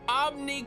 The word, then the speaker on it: Omn1: The one your name is pronounced as a I. Yes. Yes. Where do you think Omni comes from?